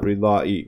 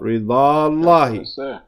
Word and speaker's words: رضا الله: لرضا الله, for the رضا الله, not رضا إي, but رضا الله.